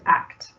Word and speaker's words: ACT: Oh, and I forgot to say at the beginning, acceptance and commitment therapy is known as and pronounced ACT.